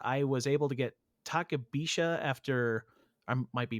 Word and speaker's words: Takabisha: And in the day that we were there, I was able to get Takabisha after I might be mispronouncing that. Um, but we rode Oh, it was Takabisha.